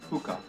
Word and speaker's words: hookah: Hookah. Hookah. Who they will not do it. It's an H. So hookah.